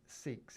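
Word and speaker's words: Seex: John Seeks is his name, right? But obviously it's spelled S-E-E-X.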